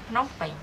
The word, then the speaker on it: Phnom Penh: Phnom Penh.